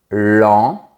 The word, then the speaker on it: lent: Par contre, lent, c’est le contraire de rapide. Le mot "lent" se prononce de manière verticale, sans sourire.